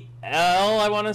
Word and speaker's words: Poeltl: Poeltl, I want to say. There's actually no R in it, even though you pronounce the R. Poeltl.